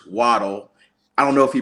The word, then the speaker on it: Waddle: so it is true his original last name is pronounced Waddell but he prefers waddle I don't know if